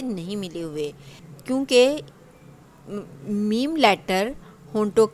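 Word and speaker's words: م: क्योंकि यहाँ पर होंठ मिले होते हैं, आवाज़ को बाहर जाने का रास्ता नहीं मिलता, यहाँ से आवाज़ ब्लॉक होती है, इसलिए जब हम मीम लेटर प्रोनाउंस करते हैं तो हमें उसकी आवाज़ अपने नाक में भी, अपने नोज़ल पैसेज में भी सुनाई देती है।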